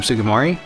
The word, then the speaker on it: Sugimori: Sugimori?